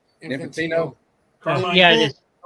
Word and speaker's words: Infantino: Uh, Infante or how do you say his name? Infantino. Infantino.